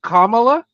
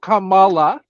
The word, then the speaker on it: Kamala: For Speech impediments okay it's Kamala not Kamala I have no respect